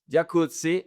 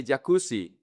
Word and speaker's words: jacuzzi: Jacuzzi. Most people say jacuzzi. So, people in Spanish pronounce the double Z like an S.